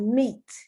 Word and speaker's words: meat: This substance is called meat. M-E-A-T, M-E-A-T. Both of them contain the EA, but steak, the EA is pronounced A. In meat, the EA is pronounced E, the long E.